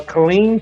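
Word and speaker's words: Killeen: up for in uh Colleen Texas it's pronounced Colleen am I right right Colleen yeah Colleen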